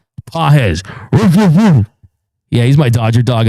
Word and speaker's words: Pages: You keep mispronouncing Andy P's name. It's Andy Big Dog. Pah.